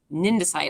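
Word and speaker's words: cnidocyte: thing is called a syndicide or a ninja site actually because it's like cnidarian um you don't pronounce the C um there are two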